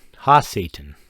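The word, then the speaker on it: ha-Satan: like noun or description or whatever it's it's ha Citan ha Satan Satan and that means the Satan that means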